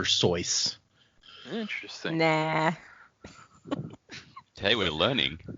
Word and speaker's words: Seuss: Zeus, like the god of thunder and lightning. Oh. So Somebody then I just had told me, like, yesterday that his name was originally supposed to be pronounced Dr. Seuss.